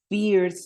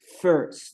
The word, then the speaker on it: first: Sí aquí lo tenemos aquí no suena la y no suena como y sino que suenas como e Ok entonces no vamos a decir pears name sino First name aquí suena como una e entonces decimos First name